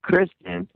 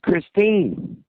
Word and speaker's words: Christine: You didn't even say her name right. You kept saying Kristen, and her name's Christine.